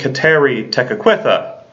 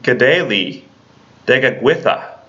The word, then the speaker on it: Kateri Tekakwitha: of the Saints one we normally call saint kateri tekakwitha but the actual proper pronunciation is saint g'day lee digging with ax I'll let you try and say that now